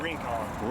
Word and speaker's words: Rincon: How do you pronounce that? Rincon. Rincon.